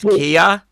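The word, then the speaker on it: Keir: Kier yeah St starmer K starmer pronounced Kia St to my ears listening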